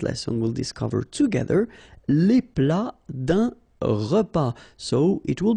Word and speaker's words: plat: Then un plat principal, final T here, not pronounced.